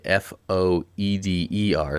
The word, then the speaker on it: foeder: This may be the first time anybody has ever heard of a foeder, and it's even spelled differently, Foeder. So it looks like foeder, but it's pronounced foeder.